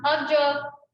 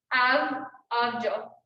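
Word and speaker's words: આવજો: There's another word that you guys can try, and it's goodbye, and it's pronounced abjo, like abjo.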